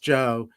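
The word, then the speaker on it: Geo: everybody called him joe spelled g-e-o but pronounced joe and he used to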